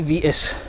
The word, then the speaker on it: Vitus: I say Vitus because it rhymes with fetus.